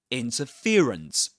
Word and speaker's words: interference: Interference interference. So the main stress goes on fear. The syllable fear. And the secondary stress goes on the syllable in.